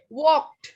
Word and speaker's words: walked: Walked. Walk. We walked. We walk. Ada, jadi ngomongnya tuh kayak ada D-nya nyantol di belakang.